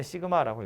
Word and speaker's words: 시그마: 이렇게 생겨 먹었는데 읽을 때 시그마라고 읽어요.